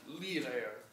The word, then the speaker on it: Lieder: You always pronounce the E in German. Lieder.